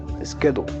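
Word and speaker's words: schedule: La cédula eh la podemos encontrar tablas también como schédula, ya pronunciado correctamente, eh, sería skedo. Skedle y es una forma de definir el espesor de las paredes de una tubería.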